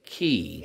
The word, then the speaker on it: Cay: K or half moon key yeah um I seemed like I saw it half moon K well it's spelled k but they say that the um The Islander call Key okay okay sunshine I